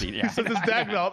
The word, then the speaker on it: Daigneault: Daigneault, the OKC coach, he's still the favorite. If the guy was coaching in hockey, it'd be Daigneault, but it's Daigneault in the NBA. He says it's Daigneault.